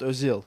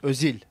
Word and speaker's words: Özil: pronunciation of my suit so everybody saying özil it's not özil it's özil Missy is it yeah